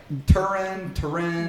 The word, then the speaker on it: Turin: Because I've heard like Turin. The Shroud of Turin. Okay. Yeah. Well, to be fair, I'm not sure how the Italians say it, but that's how we Americans say it.